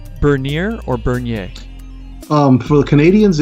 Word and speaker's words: Bernier: But of course, in the United States, they say would say Bernier, but the proper pronunciation is Bernier.